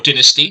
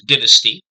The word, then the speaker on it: dynasty: And what saved the dynasty, or dynasty, depending on how you prefer to pronounce it, in the end was, as Takeyh makes clear, the Iranian political elite, who felt that the old dynasty had no real popular